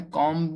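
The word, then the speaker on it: comb: कॉम में B silent है।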